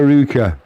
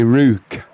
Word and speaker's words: Ruch: Right, Adrian, it's Rue. And then the end is like the last C&H off lock. Or flock. So it'd be Ruch.